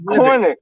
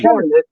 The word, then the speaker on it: Cornet: It's spelled Cornet, so I'm going to call him Cornet. Cornet. He's not an ice cream, it's Cornet. Just call him 99. Call him 99. Cornet, dog. It's Cornet. Look how it's spelled. It's French. You just said it yourself.